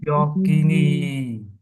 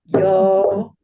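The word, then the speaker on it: yoginī: Yogini. Perfect. Yogini. Yogini. Yogini. Yogi. It does not rhyme with bikini.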